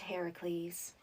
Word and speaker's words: Heracles: Well, in the original tale, I met Heracles. Eh? Heracles. Who the he's? Heracles. Why are you saying it so weird? I thought it was Hercules. Well, actually, in most translations of the story, it's pronounced Heracles.